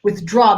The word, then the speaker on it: withdraw: Withdraw. The draw is the emphasized syllable. So the with is small so that you can get the withdraw.